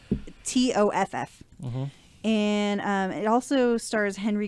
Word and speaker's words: Toff: there's going to be a Matthew McConaughey and Kate Beckinsale Guy Ritchie movie called I think it's supposed to be pronounced Tough Guys. but it's TOFF.